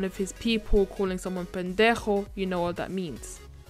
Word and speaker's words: pendejo: Pendejo. Pendejo. So pendejo, as you can see, the J is not pronounced as J, like pendejo, it's pendejo. So it's like a sound from the bottom of your throat.